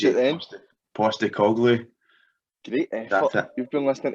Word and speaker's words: Postecoglou: Let me see if Go I on, pronounce it then. Postecoglou.